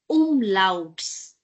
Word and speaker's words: Umlauts: you will realize that you will pronounce it as l, a, la, u, louts, umlauts.